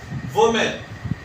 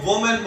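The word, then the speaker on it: women: हर बंदा इसको वोमेन बोलता है, अक्सर लोग इसको वोमेन बोलते हैं। वोमेन इसकी बिल्कुल गलत प्रोनाउंसिएशन है, इसका तलफ़्फ़ुज़ गलत है। सही इसका जो तलफ़्फ़ुज़ है वो है विमेन, इस तरह वी और मिन, ठीक है जी। विमेन इसकी प्रोनाउंसिएशन बनेगी।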